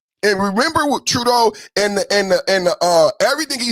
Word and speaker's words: Trudeau: Yes, it was Trudeau. And remember what Trudeau and everything he said about Trump in America and the standoff with the tractor trailer trucks and the shipping logistics.